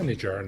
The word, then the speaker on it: Nijar: yeah, Nijar.